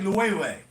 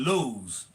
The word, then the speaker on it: Loewe: pronounce it just like Loewe. I didn't know it was called Loewe. I just called it Lowe's. I never knew it was called Loewe. No, Loewe. First I was thinking Loewe because it's W, but it's L-O-E-V-E.